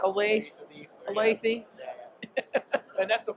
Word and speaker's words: Olathe: So I want to make sure people understand it's pronounced Olathe, not Olathe.